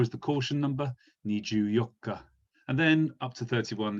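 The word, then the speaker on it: 十四日: So 14 is usually pronounced as Ju Yokka. So it's Ju 10 plus the Yokka number here.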